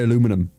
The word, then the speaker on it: aluminum: say aluminium aluminium aluminium americans we don't say aluminum aluminum we say we say aluminium but that's also because